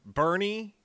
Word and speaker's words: Boerne: Which is spelled Refugio, I believe, Yes, right? Bernie.